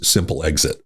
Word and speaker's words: Simplex-IT: Okay, the best I've got from Simplex-IT is the pronunciation of its simple exit.